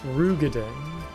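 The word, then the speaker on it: Roegadyn: Although he's a Is it Rugadin or Rogaden? I heard apparently I've been pronouncing it wrong and it's it's Rugadin, which doesn't really look like how it should be pronounced, but I can't pronounce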